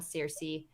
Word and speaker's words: Circe: from her perspective in a novel called cersei c-i-r-c-e not spelled like game of thrones it's excellent listen to